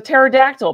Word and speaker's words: pterodactyl: And then he's like, my kid's like, Dad, everybody knows the P is silent.